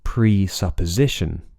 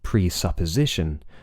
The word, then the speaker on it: presupposition: and do note that there's a secondary stress as well so presupposition the stress is on Z presupposition but there's a minor stress the pitch goes up slightly the pitch